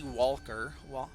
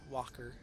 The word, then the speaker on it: Walker: Alrighty, so here we are against Randy Walker. Walker. You never really pronounce the L.